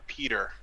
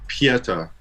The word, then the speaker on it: Peter: I'll take Peter. Another pick. It's actually pronounced Pieta.